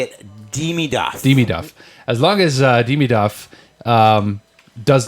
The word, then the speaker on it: Demidov: Demidov.